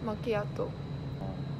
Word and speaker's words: Macchiato: Macchiato. That's how you pronounce it.